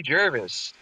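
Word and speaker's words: Gervais: It's Ricky Jervis. Jervis. Okay, fine. It's not okay. Ricky Ricky Jervage.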